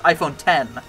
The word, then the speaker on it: iPhone X: oh that's iPhone 10. is that what XRS uh yeah 12th generation of the iPhone which I think is iPhone oh iPhone x r Roman numeral X pronounced as 10.